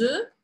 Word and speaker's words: œufs: No singular eu falaria œuf e no plural eu falo bem diferente. Je viens de manger des œufs bouillis.